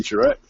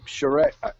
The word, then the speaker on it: Charette: It's Charette.